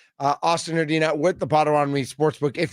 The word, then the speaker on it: Herdina: Make sure you pronounce it correctly. It's Herdina. Austin Herdina with the Potawatomi Sportsbook.